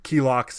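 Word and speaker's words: Kilaak: your version relax yeah key locks is how they say it in there yeah yeah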